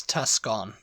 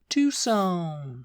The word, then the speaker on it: Tucson: top whatever uh I actually did used to pronounce this Tuscon oh yeah Tuscon Arizona Tuscon Arizona and that's